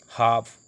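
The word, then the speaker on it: half: Walk, W ए के, वाक पढ़ लें, एल साइलेंट रह रहा है। काम सी ए एल एम काम, हाफ एच ए एल एफ हाफ, palm P ए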